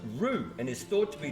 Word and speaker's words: Whroo: So, the name is pronounced rue and is thought to be derived from an Aboriginal word meaning lips.